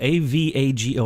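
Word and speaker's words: Avago: thank you Douglas oh I believe it's called a vago a V AG oh I hate pronounce it okay a V AG oh that's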